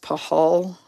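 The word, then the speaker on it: Pachal: probably um yeah so I think it's pronounced pahal Braden pahal and that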